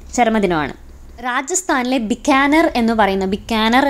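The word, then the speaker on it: बीकानेर: രാജസ്ഥാനിലെ ബിക്കാനർ എന്ന് പറയുന്ന, ബിക്കാനർ എന്നായിരിക്കണം ഉച്ചാരണം, ഒരു സ്ഥലമുണ്ട്.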